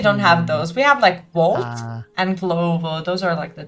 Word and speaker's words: Wolt: No, we don't say W like V, no.